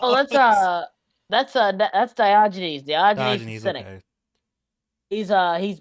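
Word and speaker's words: Diogenes: Well, that's uh that's Dioynes.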